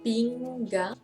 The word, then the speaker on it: pinggang: Because gan, adding another G, then you know how to pronounce gang, and also leads to other meaning.